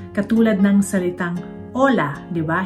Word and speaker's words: hola: Katulad ng salitang hola. 'Di ba? Hindi yan sinasabing hola kundi hola. So h, silent yan basta kahit na anong salitang makita niyo sa Espanyol.